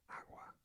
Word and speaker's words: agua: And then kind of pronounced like a W while trying to say G. Doesn't necessarily make sense unless you hear other people do it, or you start to learn it. Agua, agua.